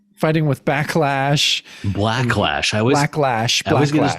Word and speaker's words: Blacklash: Yeah, so it's Cap goes on fighting with Backlash. Blacklash. Blacklash. I always get his name wrong.